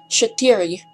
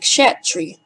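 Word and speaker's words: четири: When Edna says 4, Shatiri, she makes sure that every syllable is fully audible. SO2's version is so squashed that it sounds almost like Shatri.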